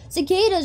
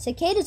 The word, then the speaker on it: cicada: Cicadas are cicadas. Well, I thought it was cicada instead of cada. Cada. See, I read everything ca. Like a crow. Ca, ca! Cicada sounds like the word ricotta, though.